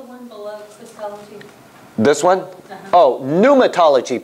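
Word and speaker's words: pneumatology: below this one oh patology P NE u m a puma actually they don't pronounce the P but I'm trying to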